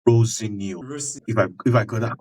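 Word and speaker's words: Rosenior: I've read somewhere that he does not like to be pronounced Rosenio. I think it's Rosinio.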